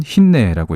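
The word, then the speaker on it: הִנֵּה: 여기도 똑같이 헤이 눈 헤이가 쓰였는데 여기는 모음부가 조금 다르게 쓰였고 이것은 흰내라고 읽습니다.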